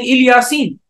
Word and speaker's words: Ilyasin: What we would say is that Aale Yaseen is another way of pronouncing Ilyasin.